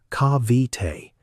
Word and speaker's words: Cavite: Her mother had done something like this once in a house in Cavite, which is pronounced Kah-vee-tay, on a street where the pavement gave out about halfway down.